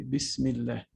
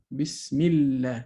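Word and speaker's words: بسم الله: hamza is pronounced but if i pronounce it with the word before it it's skipped we say bismillah so i go from the meme kasra to the lam bismillah so i skipped the hamza okay so that's why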